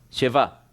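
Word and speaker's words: שבעה: En otras palabras, ellos pronuncian shevá, shevá. En hebreo es siete y por 7 días.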